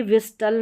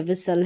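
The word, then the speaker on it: whistle: अब ये विस्टल नहीं है। विसल है। यहां पर भी टी साइलेंट है।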